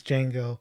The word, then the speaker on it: Django: Goes Django. How do you spell it? DJNGO. The D is silent, and goes, "I know."